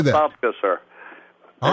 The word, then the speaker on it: Apopka: Apopka, sir.